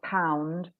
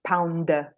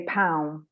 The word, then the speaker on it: pound: do end the word a word like pound the D is there but it's not released pound pound so some people say pound I'm like no because that's a different word you have to make the shape with your mouth but actually sometimes we close the mouth but the sound is still there so it's a very